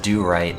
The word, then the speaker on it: Dorit: And I think it's supposed to be pronounced do-right, but every time I look at it, it's like, ah, yes, the Dorit system.